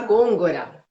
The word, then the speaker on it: Gongora: Como que pronuncia seu sobrenome? Gôngora.